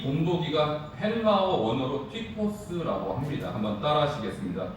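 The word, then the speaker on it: τύπος: 6절에 나오고 11절에 나오는데 이 본보기가 헬라어 원어로 튀포스라고 합니다. 한번 따라 하시겠습니다. 튀포스. 자, 단어가 좀 어렵고 발음도 어렵지만 이 정도는 여러분 아셔야 돼요. 다시 한번 하겠습니다. 튀포스.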